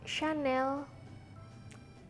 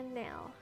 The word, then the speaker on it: Chanel: zul zul Lalu ada channel ini pasti Kalian sering banget ngeliat karena ini adalah sebuah brand terkenal Brandon lari Perancis jadi bacanya bukan channel Hai channel tapi benar Chanel Hai sanel selanjutnya ada Evi Um